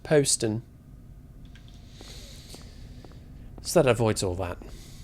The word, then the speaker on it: Poston: And actually, I think you'll find it's pronounced Poston.